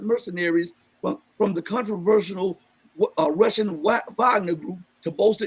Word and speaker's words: Wagner: It's spelled like Wagner, but it's pronounced Wagner Group.